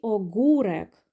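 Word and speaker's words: ogórek: Далі огурек. Огурек. О, з рисочкою читаємо як у.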